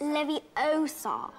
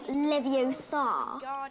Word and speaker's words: Leviosa: someone's eye out besides you're saying it wrong it's leviosa not leviosa you doing then if